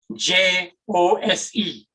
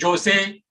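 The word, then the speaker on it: José: are thousands of mexicans many of them are named j o s e they're not pronounced jose but jose and that's where the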